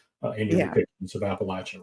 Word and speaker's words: Appalachia: And um even even something like the pronunciation, you know, if you're in southern Appalachia, it's al Appalachia, right? Right. That's that's the correct pronunciation.